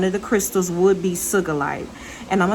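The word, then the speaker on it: sugilite: cigalite so one of the crystals would be sugalite and i'ma spell that for you is s-u-g-i-l-i-t-e next let's talk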